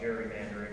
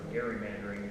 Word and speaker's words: gerrymandering: 200 years now we've been talking about gerrymandering or gerrymandering. It should be pronounced actually.